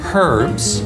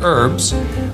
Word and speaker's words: herbs: pumpkin creme brulee now some people say herbs others say herbs but no matter how you say it fresh is what's important